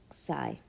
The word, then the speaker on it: xi: minus side so this this quantity here is pronounced sy so X I amount